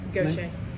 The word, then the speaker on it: Gautier: Gautier. Gautier? It's French.